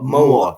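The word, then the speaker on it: Mawr: I was just going to ask you about the name Moa. I'm probably not pronouncing that correctly. M-A-W-R. Moa.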